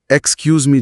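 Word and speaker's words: excuse me: जैसे एक्सक्यूज मी का उच्चारण एक्सक्यूज मी जैसा बताया है। इसमें क्या ध्यान देना चाहिए? इसमें दो बातें हैं। पहली एक्स की आवाज के एस जैसी है। जेड जैसी नहीं।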